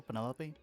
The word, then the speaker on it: Penelope: Is that short for Penelope? Officially, yes. But I never can be bothered with all four syllables of it.